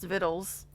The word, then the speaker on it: victuals: It's the first time I've heard victuals pronounced vittles.